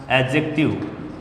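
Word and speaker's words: adjective: Model है model या एडजेक्टिव। एडजेक्टिव डी जे के साउंड में डी साइलेंट होता है, ये एडजेक्टिव नहीं है, एडजेक्टिव।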